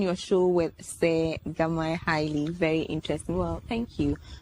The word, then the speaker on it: Haile: to pronounce it correctly so I say my name is highly highly since be easy for